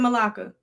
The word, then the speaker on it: Malacca: Right here, Strait of Malacca.